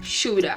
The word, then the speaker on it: should have: E muitas vezes a gente vai encontrar o should have pronunciado como shoulda.